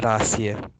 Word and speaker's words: rahasia: So rather than say rah, siya, you say ra. The H is silent. Ra, siya. Because it ends with A, we say rahasia.